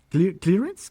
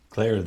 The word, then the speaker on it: Clarence: Ahí está claramente nuestro magistrado de la Corte Suprema de Justicia, Thomas Clearence, creo que se pronuncia. Clarence.